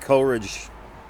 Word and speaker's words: Coleridge: Coleridge, yeah. Yeah. One of. British, American. Yep. Coleridge. Sammy. Yeah, good old Sammy. Sammy and Bill. Sammy Taylor. Sammy and Bill. I don't think Coleridge was in France during the Revolution.